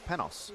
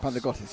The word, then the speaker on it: Panos: His first name is pronounced Panos, or he goes by Panos. Not Panagotis, just Panos, okay.